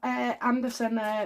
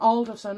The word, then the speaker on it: Anderson: Okie dokie, so in the Clive Anderson video, well, yep, it's not Alderson, and I've been saying it wrong all the time, but anyway.